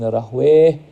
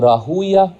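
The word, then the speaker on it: Rahwayh: Ishaq ibn Rahway or Rahuya, however you want to say his name. There are two ways of saying his name.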